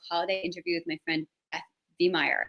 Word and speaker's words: Beth Veihmeyer: interview with my friend Beth Veihmeyer. Am I pronouncing your name right? You are. Mm-hmm.